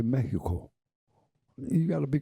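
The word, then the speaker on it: México: You don't say, if you go to Mexico, they don't say Mexico. They say Mexico.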